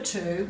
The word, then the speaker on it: two: to fill the number two with three starting with 2w just like these other words that also mean to but they made the W silent when we say it so we go to